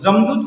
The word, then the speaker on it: जमदूत: जमदूत कहने का मतलब यमदूत को बोला है, यमराज, यमदूत यानी ठीक है। तो नागपुरी में क्या होता है, य और ज को उच्चारण किया जाता है, ठीक है।